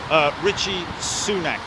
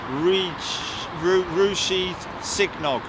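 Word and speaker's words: Rishi Sunak: Okay, so how do I pronounce his name? Richie Sunak, sir. Not Rushi Signog.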